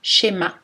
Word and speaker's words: schéma: Dans les mots anglais, SH peut aussi correspondre au son ch, shampoing, short, t-shirt, ou SCH, schéma.